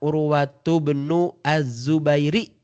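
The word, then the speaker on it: عروة بن الزبير: Kalau kalau dalam bahasa Arabnya qala Urwatu bnu Az-Zubairi. Nah gitu. Ya cara bacanya.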